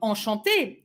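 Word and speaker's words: enchanté: who's probably a man can say enchante this way with final e pronunciation will remain exactly the same so when you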